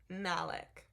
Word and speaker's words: Malek: Malek is pronounced kind of like Alex. Male? Mala? Wait, is the K silent? Wait. Malik? I'm so sorry. Malik.